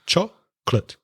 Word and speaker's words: chocolate: stop eating and chocolate remember chocolate has two syllables not three two syllables chocolate so the sentence I